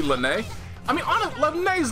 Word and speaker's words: Linne: end of my time just like Linna house is supposed to be Lynnae I mean a is